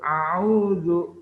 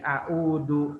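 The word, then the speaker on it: أعوذ: yang ada titiknya a'udzu yang betul itu a'udzu bukan aku Do Na bahaya nih kalau bacanya dalja di ndak jadi Dark yang betul pakai zat ada titiknya a'udzu itu artinya aku berlindung kalau Aa udu itu bisa merubah arti ya Jangan sampai salah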